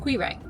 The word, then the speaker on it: Quiraing: Time to go to the Quiraing walk. 20 minutes. If you have a better pronunciation for that word, let us know. We'll ask ChatGPT just like we ask ChatGPT everything later. So it's pronounced Quiraing.